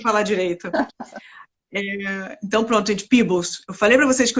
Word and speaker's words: Peebles: E, Francia, como é que pronuncia o seu último sobrenome? Que eu tô sempre aqui na dúvida. É Peebles, é um nome Peebles.